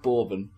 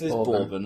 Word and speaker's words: bourbon: of a bourbon yeah is it B it pronounced borbon I think it's bourbon isn't it not to be B